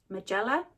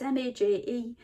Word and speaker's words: Majella: The other lady who, and I'm sure I'm going to say this name wrong, Magella, it's Majella.